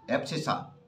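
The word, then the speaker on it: abscissa: ये है ABSCISS, एप्सिसा। इसे बोलते हैं एप्सिसा।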